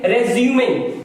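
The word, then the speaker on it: résumé: तो इसे हम पढ़ेंगे रेज्यूमे, ये करेक्ट प्रोनाउंसिएशन। अगर मैं कहूं I will रिज्यूम office on Tuesday, अब ये वर्ब हो गया तो इसका प्रोनाउंसिएशन बदल गया, रिज्यूम, और नाउन होगा तो रेज्यूमे।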